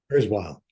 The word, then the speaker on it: Kurzweil: But sometimes you see, tell me a little bit about Ray Kurzweil, because sometimes, how do you say his surname? Sorry, Kurzweil.